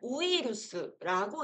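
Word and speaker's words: ウイルス: 우리는 이제 영어를 한국인들은 영어를 어느 정도 하는데 한국인이 영어를 할 때 배운 학교에서 배운 영어식 발음과 일본식 발음이 너무 다른 경우가 있어요. 예를 들어 한번 읽어 보세요. 자, 요거 한번 읽어 볼까요? 자, 요거는 우이루스라고 읽어서 뜻은 놀랍게도 바이러스입니다. 진짜 그 바이러스요.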